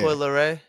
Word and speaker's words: Coi Leray: Coi Leray? Oh, Yeah. Coi Leray.